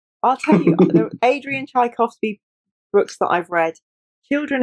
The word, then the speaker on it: Tchaikovsky: I'm going to Tchaikovsky, I think that's how you pronounce it.